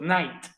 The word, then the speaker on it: night: termine en que ht la g y la h no se pronuncia es la palabra noche decimos night y no es cierto